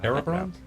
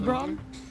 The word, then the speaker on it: Eberron: That's not Erebron? No, How you Bron? pronounce it. Do you mind if I Eberron. ask how you Eberron.